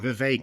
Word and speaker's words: Vivek: yeah and and uh Vivek it rhymes with cake yeah well no it's